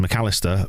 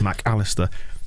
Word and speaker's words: Mac Allister: having a silly name that is apparently pronounced mcallister but the voice in my head can't help but pause between mac and alistar like i just did mac allister because he's not gary